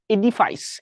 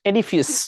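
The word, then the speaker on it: edifice: একটা কোশ্চেন সেটা হলো এডিফাইস এডিফিস যেটাকে বলা হয় অনেকে এডিফাইসও বলে বা ডিকশনারিতে এডিফিস এটা রিলেটেড আর কি এভাবে উচ্চারণ করা আছে আসলে বলছে যে শার্টগুম্বুজ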